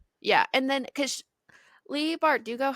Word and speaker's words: Bardugo: Bardugo. Well, But saying Lee Bardo and missing like a whole syllable is not correct, but I mean, it sounds better.